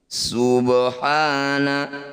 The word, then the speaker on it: سبحان: Subhana, ba sukun di tengah bacaan disebut bacaan qalqalah sugro. Cara bacanya bunyi ba dipantulkan tapi jangan berlebihan.